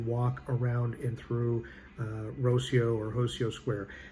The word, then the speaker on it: Rossio: around and through uh rocio or hosio square it starts with an r but in portugal they pronounce it like an h so that's i'm going